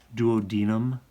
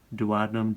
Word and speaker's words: duodenum: duodenum jejunum and ilium sometimes you'll hear the first one as duodenum duodenum duodenum doesn't matter to me how you pronounce it that's this first segment